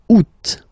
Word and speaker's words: août: And then here, two options because, well, two options are acceptable in French. The first one, you don't pronounce the final T. Ou. Second one, you pronounce it août.